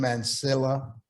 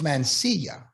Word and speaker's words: Mansilla: We're here with Jim Mansilla. It's Mansilla, Mansilla. but I know sometimes you pronounce it Mansilla.